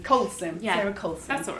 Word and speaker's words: Colson: I've just realized normally I check that I'm pronouncing people's names right did I get your name right it's Coulson Colson yeah that's all right I was close so